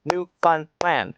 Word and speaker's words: Newfoundland: The big city in Ontario is pronounced Tronna. Tronna. Nobody says the second T except Americans. Newfoundland is New Fun Land.